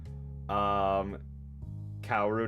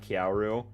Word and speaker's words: Kaoru: Kaoru, not Kyauru.